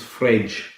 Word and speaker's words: Fred: no that doesn't work the d is different too fred equals fridge fragia so to be honest